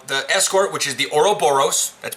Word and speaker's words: Ouroboros: huh um now the escort which is the Ouroboros that's pronounced Ouroboros it's the temporal Raider these are gonna be